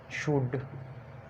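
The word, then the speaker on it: should: उसके बाद डी, एफ, के या एम से पहले एल साइलेंट होता है।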